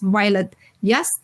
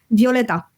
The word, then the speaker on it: Violeta: your host and today's guest is violet y head of customer success at user guest did I pronounce wrong your name I didn't ask it